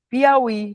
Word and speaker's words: Piauí: Pi au i. Piauí. Tem acento.